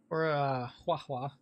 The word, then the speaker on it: Huohuo: We get this light cone here, which I guess is your free-to-play version for Huohuo. That's how it's pronounced.